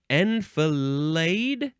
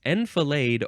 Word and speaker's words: enfilade: Next word is enfilade. Yes, enfilade or enfilade.